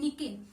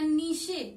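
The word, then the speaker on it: niche: निके या नीशे भी बोलते हैं, ठीक है।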